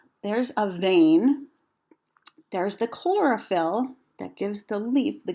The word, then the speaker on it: chlorophyll: Try saying that word, chlorophyll. I can clap out the syllables. Chlorophyll. That's 3 syllables.